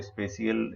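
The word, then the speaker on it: spatial: हुआ होता है, तो स्पेशियल, इसका प्रोनाउंस इसका स्पेशियल ही कहते हैं। इसको लिखने में टी का प्रयोग करते हैं, जो साउंड जिसका नहीं रहता है, साइलेंट रहता है।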